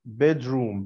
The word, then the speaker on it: bedroom: طبعا هي واخده صوت الجاي شويه بسبب ان حرف الار جاي ورا حرف الدي، فبياخد صوت الجاي، فاقول بيدر بيدر بيدروم بيدروم، مش بيد روم، لا بيدروم.